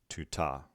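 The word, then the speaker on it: τοῦτο: The neuter form, tau, diphthong pronounced oo, tau, omicron, tuta.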